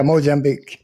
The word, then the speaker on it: Mozambique: And Mozambique, is that how it's pronounced? Yeah. Yeah, Mozambique.